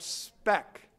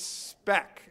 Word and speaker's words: SPEC: of their divisions called spec rhymes with Fleck rhymes with Shrek but it's spec s P EC okay